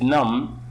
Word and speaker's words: numb: is the meaning of numb B is silent in here plumbing listen